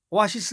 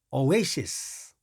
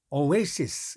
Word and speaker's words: oasis: 이런데서 쓰는 그 사람들이 발음이 오오하시 쓱 이렇게 발음한 사람 한명도 없어 오아시스 가 아닙니다 oasis oasis 이렇게 바랍니다 자 이거 3번 바로 마십시오 또